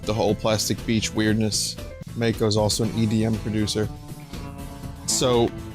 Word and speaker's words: Mako: where 2d is singing he goes when the mai kai flies all right i'll say it when the